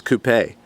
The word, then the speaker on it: coupé: It is spelled coupe, but they add an accent over the E to make it sound, I guess, a little more fancy as coupé.